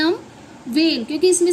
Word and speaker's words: vein: तो इसमें जो वर्ड है जैसे कि हाँ VEIN, तो इसे हम वेन पढ़ते हैं, ना इसे हम वीएन पढ़ेंगे ना इसे हम वीन पढ़ेंगे, इसे हम वेन पढ़ते हैं।